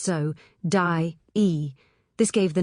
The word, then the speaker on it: Sodye: The name Sodye, I was told, is pronounced so, die.